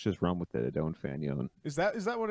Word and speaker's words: Fanion: know if you were french you'd say fanon and then the two rhymes so let's just run with the don't fanon is that is that